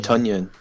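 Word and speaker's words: Tonyan: No, but Yeah, it's Tunyon. Yeah. It rhymes with Funyon.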